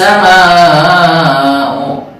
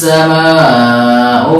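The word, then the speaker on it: السماء: Maka membacanya terkadang wa syaqqatis sama'u. Nah kan itu lebih dekat dengan ain. Padahal ini hamzah. Wa syaqqatis sama'u fahiya yawma idzin wahiyah.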